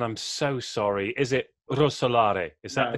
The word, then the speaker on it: Rousseaux: so sorry, is it Rousseaux? Is that the correct? Rousseaux, you can pronounce it with your R.